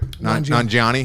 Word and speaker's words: Nanjiani: Nanjiani.